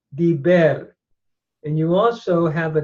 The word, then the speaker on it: diber: Notice the vowel pattern is a hirik, followed by a tsere, a long E vowel, diber.